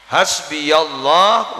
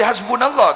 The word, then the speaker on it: hasbiyallah: wakil ni'mal ulangi boleh hasbiyallah wa jangan gue hasbunallah lagi hasbiyah hasbi ngagi buru ruang